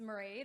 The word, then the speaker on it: Mairead: My name is Mairead. It's pronounced like parade, but with an M.